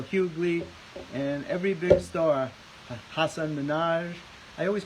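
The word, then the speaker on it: Hasan Minhaj: yes of course and he pronounced his name Hassan Hassan Minaj and I always call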